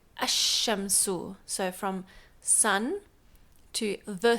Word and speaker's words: الشمس: But just to sort of highlight how it changes when you put an alif lam, it changes from shamsun to ash-shamsu.